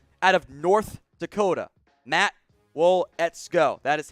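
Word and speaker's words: Waletzko: matt let's go out of north dakota matt wool ets go that is how you pronounce that one not easy to say i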